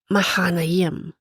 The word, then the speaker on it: Mahanaim: Se pronuncia mahanayem. Mahanayem. O sea, bueno, no sé si lo estoy pronunciando bien, pero es un nombre en forma plural y se traduce como dos campamentos.